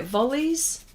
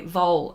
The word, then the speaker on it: vole: like like full okay vole okay it Vol said like fall yeah it's like a